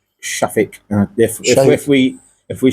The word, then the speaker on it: Shafik: the treasury minister and what the I can't pronounce that name right Baroness. Baroness um Minas Shake Shafik.